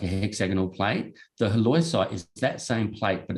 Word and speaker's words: halloysite: Going back to the kaolin and the H word, because I can't pronounce it. I can't, Michael. Halloysite, there we go.